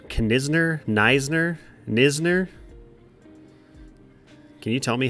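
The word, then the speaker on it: Knizner: Kim Isner can is do you pronounce that k at all for some reason I always thought it was niser but I didn't realize there's another n in his name maybe you could tell me since you're a Cardinals fan Kisner okay the N is silent Kisner got it one two count two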